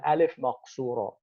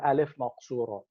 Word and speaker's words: alif maqsura: and that is called alif maqsura. Um, it's an it's an alif written as a ya. It's written as a ya, pronounced as an alif.